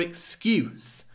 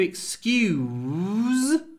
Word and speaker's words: excuse: look at the difference the verb to excuse we have Z at the end but the big difference is not the Z and the s in excuse It's the vowel because when we say excuse we have a full oo vowel with a lot of w